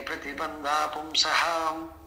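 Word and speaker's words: ಪ್ರತಿಬಂಧಃ ಪುಂಸಃ: ಸರ್ ಹ್ಮ್ ಸಂತೆ ಸಂತ್ಯನ್ಯೇ ಪ್ರತಿಬಂಧಹ ಪುಂಸಹ ಸಂಸಾರ ಹೇತವೋ ದೃಷ್ಟಾಹ ಇಲ್ಲಿ ಹಾ ಸರ್ ಇಲ್ಲಿ ಬಂಧ ಅಂತ ಇದೆಯಲ್ಲ ಅಲ್ಲಿ ವಿಸರ್ಗ ಉಚ್ಚಾರಣೆ ಮಾಡಬೇಡಿ ಹಾ ಸರ್ ಸಂತ್ಯೇ ಪ್ರತಿಬಂಧಪುಂಸಹ ಸಂಸಾರ ಹೇತು ದೃಷ್ಟಾಹ ಇಂಗ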